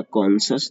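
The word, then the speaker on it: conscious: तो पहला हो जाएगा कॉन्सस, दूसरा होगा कॉन्सन्स, और फिर तीसरा कौशस, कौशस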